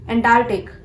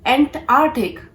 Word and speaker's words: Antarctic: Antarctic. No. This is Antarctic.